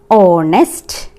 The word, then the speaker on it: honest: But here used an because H is silent here.